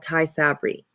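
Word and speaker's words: Tysabri: Um, and my nurse actually can't even pronounce it either. She's like I always get it wrong. Um, but it's called Thai Sabry.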